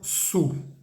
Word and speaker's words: sous: En francés no vamos a decir sous de, sino sous. Esa palabra S-O-U-S se dice sous.